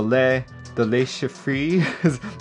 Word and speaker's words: Le Chiffre: 40 from the P3D store, and also the Le Chiffre is how you pronounce it. This one also on the P3D store. So out of these 4, what is the audience most interested in? Le Chiffre, says Justin.